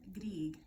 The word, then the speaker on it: Grieg: was written by a famous composer named Edvard Grieg yes that's how you say his name he